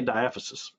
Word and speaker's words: diaphysis: the dieth the the different ways to pronounce this it's it's either way is right i say diaphysis some people may call it different maybe i've heard orthopedists